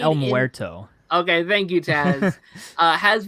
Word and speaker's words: El Muerto: So speaking of the Sonyverse, El Morito, I hope I pronounced that name right, has been delayed. I think it's El Muerto.